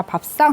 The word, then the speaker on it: 밥상: 자, 밥상 한번 보겠습니다. 자, 밥상에서의 쌍은, 자, 얘는 왜 밥상이 쌍이라고 발음이 됐어? 그치? 된소리 되기죠.